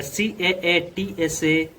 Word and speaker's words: CAATSA: We'll be talking about the CAA TSA and COMCAA and LEMOA. So these are pronounced as the CAATSA and COMCASA and LEMOA.